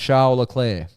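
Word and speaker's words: Charles Leclerc: how how's it pronounced charir so the second C the first C is pronounced heavily yep and the second C is just off turns out the work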